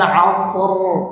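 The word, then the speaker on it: عصر: Kalau tebal ya mengangkat suara ke langit-langit. Jadi ro wal asr. Nah gitu. Jadi bukan diturunkan suara ser ser gitu. Wal asas ah itu r itu rnya itu turun suaranya di suaranya diangkat ke langit-langit ditebalkan ru ru wal asr.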